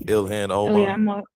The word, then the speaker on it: Ilhan Omar: It's like Ilhan Omar.